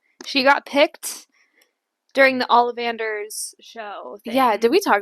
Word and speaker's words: Ollivanders: And yeah, Ollivanders.